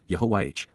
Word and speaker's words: Yahowah: and perfect jive to Yahwa Yahwa God's personal and proper name pronounced Yahwh based upon haya to exist with my whole heart